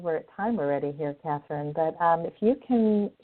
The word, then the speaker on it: Catherine: it out for everybody okay my name is Katherine which is spelled with a c c a t h